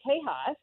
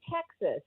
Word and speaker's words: Texas: And we don't say Tejas, right? We say Texas.